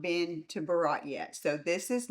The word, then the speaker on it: Berat: So today, we're talking about Berat, Albania, pronounced roughly Berat.